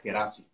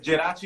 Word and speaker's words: Geraci: Y para los mexicanos se pronuncia Gerasi, digo. Es Gerachi, pero los mexicanos prefieren decirlo como Gerasi.